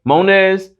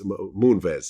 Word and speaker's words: Moonves: Am I pronouncing his last name right? Munez?